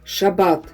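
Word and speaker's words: שַׁבָּת: из древнееврейского языка от «шаббат» – 7-й день, когда нужно воздержаться от работы. «Шаббат» – так произносится это еврейское слово, означающее покой и отдых.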